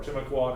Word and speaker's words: Timucua: We're going to specifically talk about the Timucua here, or Timucua, depending on who you talk to, two different ways to pronounce it.